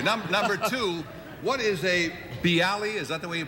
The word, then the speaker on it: bialy: it thank you number two what is a bialy is that the way you pronounce it bialy yeah bialy originated in a place called bialystok